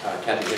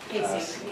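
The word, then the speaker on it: Kaci: the current situation with the Kathy Hickox, am I pronouncing her name correctly? Casey. Casey, the nurse who's recently back from travel to Africa, assisting in the care of these patients.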